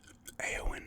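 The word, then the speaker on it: Éowyn: aragorn kimberly legos gandolf aoen is how you say her name eowyn um and somebody else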